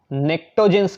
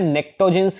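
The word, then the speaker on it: pnictogens: नाइट्रोजन family को बेटा नेक्टोजेंस कहते हैं, P साइलेंट होता है, नेक्टोजेंस कहते हैं इनको।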